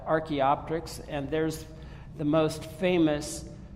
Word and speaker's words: Archaeopteryx: If you didn't know how to pronounce that, Archaeopteryx, and there's the most famous fossil of this bird with the kind of neck back.